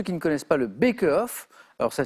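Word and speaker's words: Baeckeoffe: Pour ceux qui ne connaissent pas le Beckehoff, alors ça s'écrit, mais Victor l'a très bien prononcé, B-A-E-C-K-E-O-2-F-E, ça peut s'écrire avec un K aussi, Beckehoff ou Beckenhoff, accepté aussi.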